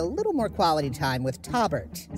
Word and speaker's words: Taubert: This episode, we get to spend a little more quality time with Taubert, spelled with a T. You're the guy with the name. It's Taubert. Robert with a T.